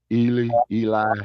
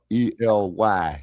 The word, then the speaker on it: Ely: Eli, yeah. E-L-Y, yeah. Yeah, they pronounce it Ely.